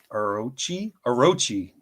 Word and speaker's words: Orochi: the Orochi.